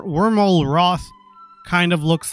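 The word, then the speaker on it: Wyrmalroth: is this guy's name his name is wormal Roth there we go it was very tricky to pronounce so worm aloth w y r m a l r o t h Lord dragon and zoom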